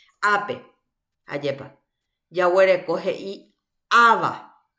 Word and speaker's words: ava: Heipa ava upepe ahí. Ava. Ava. Cuando no tiene el acento pintado, entonces se pronuncia sobre la última vocal.